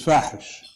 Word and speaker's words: Fahish: My name for it is Fahish. Those who know Arabic know what that means. Fahish means obscene, and it rhymes with Daesh.